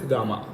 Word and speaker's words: Gamna: actually uh it is when we write spelling it is gamna okay gamna but actually normally we pronounce it as gamma gamma okay gamma it's